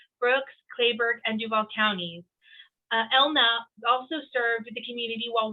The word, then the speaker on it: Helna: name uh is pronounced elna elna yes h is silent that's fine silent everybody